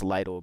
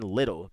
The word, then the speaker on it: Lidl: I knew it. That sounds more real. That sounds more right to me, bro, than little. People are like, oh, little. I'm like, little? It's spelled Lidl. Where do you hear little in that? Little is spelled Little. That's little. Lidl is spelled Lidl. It's Lidl. So Lidl.